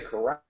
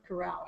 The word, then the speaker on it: Corel: yeah, I thought you were saying Corral, but Corel. I'd heard of Corel, but never heard of Corral.